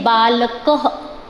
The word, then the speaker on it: बालकः: और इसका प्रोनाउंसिएशन जो होता है चिल्ड्रन वो ह होता है। जैसे मैंने यहाँ पर लिखा बालकः, तो हम इस चीज़ को प्रोनाउंस करेंगे बालकः।